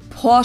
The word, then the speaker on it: Porsche: it Porsche or Porsche in German we say por so there's like this short a sound in the end por it was founded by